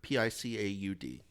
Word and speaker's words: Picaud: How do you say his Picaud, Picaud.